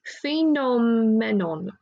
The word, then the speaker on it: Phenomenon: Let's try this phonetically, Sophie, because we did phonics in school. Phenomenon.